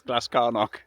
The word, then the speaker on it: Glascarnoch: It's Glascarnoch.